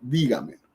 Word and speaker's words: dígamelo: Entonces tenemos, en dígamelo tenemos última, penúltima me, antepenúltima ga, antes de la antepenúltima di. Ahí va el acento. No decimos dígamelo, dígamelo, dígamelo, sino dígamelo.